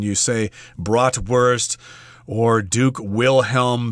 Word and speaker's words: Wilhelm: whoa two above uh the W becomes a V and that's why yes we're saying that this particular Church was built by Duke Wilhelm v okay if you're